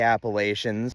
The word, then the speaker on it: Appalachia: live there before European settlers named it the Appalachians had three or four different names for the